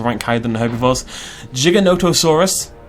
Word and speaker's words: Giganotosaurus: higher than the herbivores Giganotosaurus Knight is how you pronounce it I used to call it Giga not a source all the time do you know a